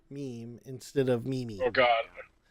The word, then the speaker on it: meme: bring up the fact that Y is meme pronounced meme instead of meaning oh god I actually looked